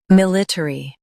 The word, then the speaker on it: military: Military. Now, read the syllables of British pronunciation shown on the screen naturally. Military. Military. Stress mill. Keep ter and e light. Mulattery. Military.